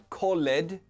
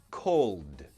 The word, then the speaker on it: called: Again, not called, no, called. So in this case, we pronounce the ed like a d sound.